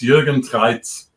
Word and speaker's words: Jürgen Treyz: they're really pronounced and not not how I pronounce them? It was not that bad. So my name is Jürgen Treyz.